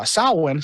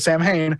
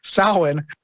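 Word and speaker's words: Samhain: with Sam with uh salwan she almost said Sam Hayne Salin you have a number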